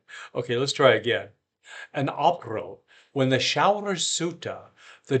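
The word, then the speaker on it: Aprille: In April. That was wrong. I pronounced it like a modern American. Okay, let's try again. An April, when the showers suita,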